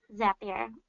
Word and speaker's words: Zapier: a common question right off the bat it's pronounced that beer and then zap your makes you happier debía